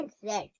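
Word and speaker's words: read: Spelling तो वही है पर प्रोनंसिएशन इसका अलग है। इसका प्रोनंसिएशन है रेड।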